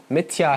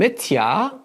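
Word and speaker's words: मिथ्या: called satya and mithya mithya has a long a at the end satyam what is satyam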